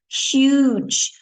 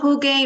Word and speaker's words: huge: a huge amount of note the pronunciation huge not Hoge or hugi or Hooch huge a huge amount of